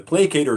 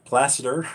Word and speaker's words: Placator: Helix amp model, the Placator Dirty. And, you know, because of my Dutch language, I pronounced it placider or something.